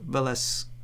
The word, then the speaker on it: Velasquez: It's Velasquez, not Quez.